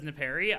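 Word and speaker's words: Nepeta: use to this version so i mean you pronounce it as nepari i mean that's just that's just that's just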